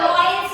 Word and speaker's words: vowels: वॉवेल्स and consonants. तो ये वॉवेल्स होता है या वॉइल्स होता है? वॉइल्स। कैसे होता है वॉइल्स? क्या साइलेंट है इस स्पेलिंग में?